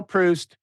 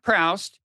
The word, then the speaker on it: Proust: It was kind of like, well, okay, so it's true that all you people know that it's pronounced Marcel Proust, not Proust, as I just pronounced it, granted, but but you don't know the real world.